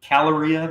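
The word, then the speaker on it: Kaloria: So Caloria, the K is silent in front.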